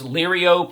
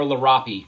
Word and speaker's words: Liriope: Yeah, Kathy, that's it's Liriope or Lirapi, depending on how you want to pronounce it.